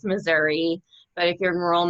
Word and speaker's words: Missouri: Missouri or Missouri?